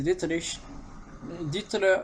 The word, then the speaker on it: Dietrich: Et excusez-moi d'ailleurs pour la prononciation, c'est. Des fois j'ai dit Mateschitz, c'est Mateschitz. Et c'est pas Dieter, c'est Dietrich.